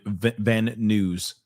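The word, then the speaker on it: Van Nuys: He pronounces it news. Okay. Van Van News.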